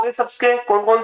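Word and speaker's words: tsetse: और इसका वाहक सी फ्लाई। टी साइलेंट रहता भी है, सी मक्खी।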